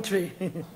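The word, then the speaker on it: Twi: that come from a nice African language name tree you hear it name tree yeah man it spelled tww but it pronounced tree a one good language and make me tell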